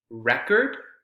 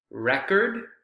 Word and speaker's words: record: Notice how the stress is on the second syllable.